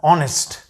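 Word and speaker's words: honest: ठीक है, सो इसी तरह बेशुमार और अल्फाज ऐसे हैं, मसलन ऑनेस्ट एज से शुरू हो रहा है, लेकिन आपको पता है इसमें एज साइलेंट होता है।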